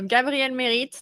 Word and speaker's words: Gabrielle Merite: do I do um so Gabriel Merit that's the right way I pronounce my name in French I'm from France I